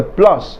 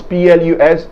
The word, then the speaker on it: plus: than his older sister however if the adjective or the adverb begins with a vowel there is going to be a liaison between the s of the plu and the beginning sound of the adjective or the adverb resulting in a z sound in between them look at this example